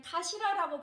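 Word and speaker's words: CA4LA: 어떻게 읽을지 처음에는 아마 좀 영어로 읽어야 되나 뭐 헷갈리실 텐데 제가 좀 전에 카시라라고 먼저 설명해 드렸기 때문에 아, 저거는 카시라라고 발음을 한다고 여러분들이 아마 눈치를 채셨을 건데요. 자, 맞습니다. 카시라라고 발음을 합니다.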